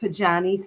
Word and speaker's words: Pajani: Well, I pronounce it Pajani.